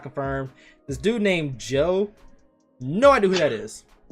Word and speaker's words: Jho: This dude named Joe, no idea who that is. That's just a regular nigga off the street who got hands. It's spelled JHO, but Joe.